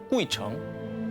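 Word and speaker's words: 鬼城: 다녀가기만 해도 장수한다는 전설을 가진 중국 발음으로 꾸이청, 한자로 보면 귀신 귀자에 도시 성자를 쓰는 그야말로 귀신들의 성, 귀성입니다.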